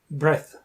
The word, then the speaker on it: breath: So number one, how do you pronounce this word? Breath, breath that’s correct breath and how about number